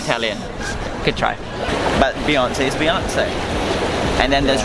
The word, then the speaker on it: Hirzi: and the core of singaporeans with his ship beyonce level comparison gravitas interesting my name is i